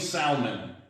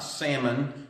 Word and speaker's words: Salmon: she marries a guy named Salman not salmon salmon for those of you who don't know how to pronounce English she marries a